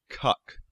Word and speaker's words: Kek: somebody noticed something that kek was the name of an ancient Egyptian deity a froge headed one also worth noting it can also be pronounced cuck another coincidence and allegedly